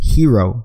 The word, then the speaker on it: gyro: it as gyro but it's actually pronounced hero from my understanding so it was a